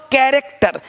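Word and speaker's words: character: यहां देखिए chess chair reach क क्या हो कैरेक्टर क क क यहां भी सी एच भी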